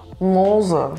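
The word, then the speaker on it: Mosel: again so it's a the O is a proper o you pronounce the O Like O and then the E is almost mute so it's mosul yeah good yeah super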